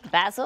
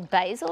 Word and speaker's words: basil: And then we put in some basil or basil, is that how you say it? In American, we say basil.